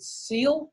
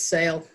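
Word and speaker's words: Selye: this name is it is it seal or sale the scientist I would think it's sale sale often taught and Allison does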